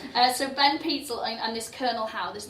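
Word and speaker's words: Pitezel: Peetzel. Ben Peetzel, right? And he had this law enforcement guy. You've got to say it in that high voice like I just did. Peetzel. So Ben Peetzel and this Colonel Howe,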